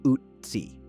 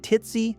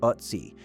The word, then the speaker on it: Ötzi: VO instruction, pronounced exactly as Ötzi. Not Titsy, but Ötzi.